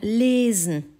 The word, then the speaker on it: lesen: Puis nous avons lesen. Tu entends ce E. Il est fermé et long. Pourquoi? Parce que derrière, il y a un seul S.